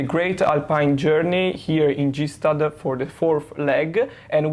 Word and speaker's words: Gstaad: It's actually Gstaad. Yeah, how do you pronounce it? Gstaad. Gstaad.